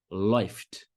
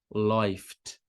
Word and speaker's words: läuft: Um exemplo, läuft. Então, a escrita é L-A umlaut, U-F-T, mais esse A umlaut com U soa como oi, läuft, läuft.